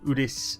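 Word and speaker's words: Odense: In Udens, or Udis, as the Wikipedia said you pronounce it.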